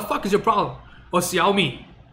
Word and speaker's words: Xiaomi: Or Xiaomi. Right? No, it's Xiaomi. No, it's Xiaomi. In Chinese, it literally says Xiaomi. It's spelled the same way too.